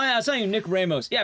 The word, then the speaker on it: Ramos: Yeah, apparently he pronounces his name that way. It's dumb. He says, Nick Ramos, on duty. And it's like, Ramos? What the fuck you mean, Ramos? Ramos. Like, rock.